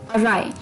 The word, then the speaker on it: awry: जो कि था एक अटपटा वर्ड जिसकी प्रोनाउंसिएशन अलग है और वर्ड अलग है, अराय, AWRY, अराय।